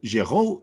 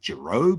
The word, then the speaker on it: Giraud: So it's like, it's the Giraud is the French way to pronounce it. I say Giraud because it's a bit more anglicized and people can they